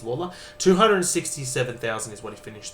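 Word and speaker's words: Lalor: The next one is going back to my club Richmond midfield forward Sam Leel or Lawler, sorry, stupid way of pronouncing his name, but that's fine. It is Lawler.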